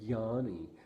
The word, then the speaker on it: Yianni: that change are also the way that they're pronounced right so he'd say Yanni and then I picked up on the way